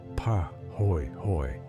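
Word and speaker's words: pāhoehoe: Po ho lava, the Hawaiian word pronounced pa hoy hoy, cools into smooth, ropey, folded surfaces like twisted fabric or the skin of a sleeping animal.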